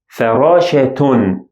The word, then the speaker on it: فراشة: And here فراشة, فراشة. I pronounce it as ta sound.